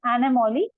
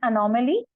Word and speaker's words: anomaly: Couple of things that I would like to mention here is pronunciation. One place it was said anomaly, it is anomaly, and demonstrate, and it should be demonstrate.